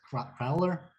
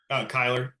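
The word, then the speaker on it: Cyler: I'm going to mispronounce the last name as Crowler. Kyler, RJ Tyler, Kyler.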